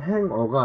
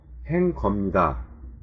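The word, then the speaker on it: hanger: 제가 기억하기로는 자, sing어와 같은 사람 행위자를 의미하는 어미 er이 붙을 경우에는 ng의 g가 묵음이 되고 행거와 같은 사물일 경우에는 그 발음이 납니다.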